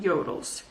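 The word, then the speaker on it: Jøtul: blaze kings and about yodels the only experience we had with a yodel which is spelt j-o-t-u-l it was a really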